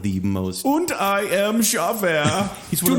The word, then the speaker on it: Javert: It's No, pronounced no. Javert.